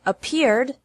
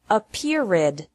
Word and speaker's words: appeared: Appear has 2 syllables, and appeared also has 2 syllables. Don't pronounce it appeared with 3.